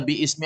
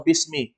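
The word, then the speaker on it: بِسْمِ: Ilal kalimatil atiyati Bi Ini bacanya biismi atau Bismi Bismi ini Hamzah apa namanya nya Hamzah wasal kalau dia di tengah maka tidak di kalau dia berada di awal paling awal kata maka dia diharakat dengan kas kita sudah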